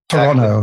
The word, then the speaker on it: Toronto: you've got the uh the city name pronounced correctly as well without the T Toronto exactly yeah he's really